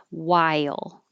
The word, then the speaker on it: while: Isle or row um and the while even though there's an H there the H is not pronounced at all we just skip